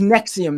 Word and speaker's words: NXIVM: They have a weird spelling. Yeah. NXIVM. Yes, it's pronounced Nexium though.